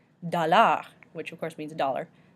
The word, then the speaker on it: dollar: Dollar, which of course means dollar, dollar, we say the R.